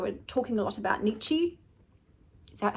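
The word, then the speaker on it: Nietzsche: So, we're talking a lot about Nichi. Is that how you pronounce his name?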